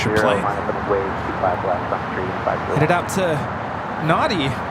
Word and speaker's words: Nadi: Headed out to Nadi. Nandi. We were having a debate about that. Proper pronunciation.